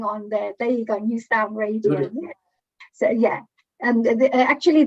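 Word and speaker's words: Nu Sound: new sound radio yeah new sound but it's spelled as n u sound so not an ew but new sound radio oh here are some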